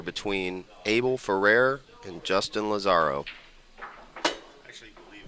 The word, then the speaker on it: Lazarro: a match here between abel ferrer and justin lazzaro i actually believe it's pronounced lazaro lazaro i was just speaking with him and good